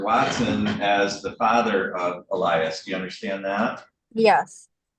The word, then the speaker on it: Elias: First of all, you are the mother of, is it Elias? Is that how you pronounce it? Okay. Yes. Of Elias Link, you're the mother, is that correct?